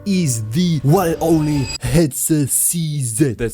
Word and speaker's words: HetzerCZ: And the one lucky guy we're going to talk about today is the one and only headset CZ. That sounds very weird, but that's how it should be pronounced if you're talking in English.